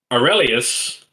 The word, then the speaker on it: Aurelius: All right, starting off Group E, and this one was very specifically laid out in the pronunciation. It's Aurelius. Nice one, Aurelius.